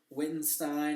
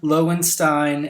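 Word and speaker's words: Lowenstein: I think it was wittenstein or something like that um Andrew here I actually butchered this film critic's name his name is Adam Lo Stein l w n s t i n and the article in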